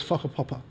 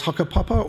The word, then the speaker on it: whakapapa: There's another term and I'll pronounce the word, it's not a swear word, the word is whakapapa. In some dialects, it is hakapapa or wakapapa, and what that means